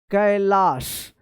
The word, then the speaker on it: कैलाश: ए एस एच कैलाश तो यहां पे आप ए आई का ए उच्चारण मत कीजिएगा कैलाश पढ़ेंगे गलत हो जाएगा कैलाश ठीक है ये WhatsApp इंग्लिश इसको बोलते हैं या नाम वाली इंग्लिश बोलते हैं।